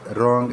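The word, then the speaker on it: wrong: इसमें rule number 1 ये है कि when are comes after W, the letter W will be written but not read और will be silent. जब भी डब्ल्यू के बाद आर आएगा तो हमारा डब्ल्यू जो है वो साइलेंट हो जाएगा। जैसे एग्जांपल है राइट, रेड, रॉन्ग एट्सेट्रा, और बहुत सारे एग्जांपल्स होते हैं।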